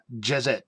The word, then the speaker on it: Djezet: DJEZET, which is Jezet. That's how I would pronounce it, like a djembe, DJIMBE.